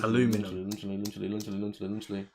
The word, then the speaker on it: aluminum: Americans say aluminum, which I find mental.